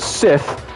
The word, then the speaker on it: Sith: And speaking of Sith, it rhymes with piss.